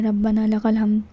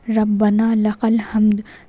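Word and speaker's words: ربنا لك الحمد: रब्बना लकल हम इस तरीके से नहीं पढ़ना। साफ पढ़ना है। रब्बना लकल हमद। रब्बना लकल हम। यह है सही प्रोनाउंस। इसकी सन सही प्रोनंसिएशन इस तरह से होगी।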